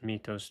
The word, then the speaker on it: Mythos: So, in his Poetics, Aristotle uses mythos to mean plus. Interesting. Mythos. Mythoi. Oh, mythoi. Mythoi is plural. Mythos. Mythos, not mythos. Mythos. Mythos. Mythos. Mythos. Mythos. So the stress is in the first syllable, right?